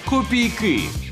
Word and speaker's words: копійки: копійки і правильно думаєте адже наголос у цьому слові на звук и копійки копійки копійки копійки копійки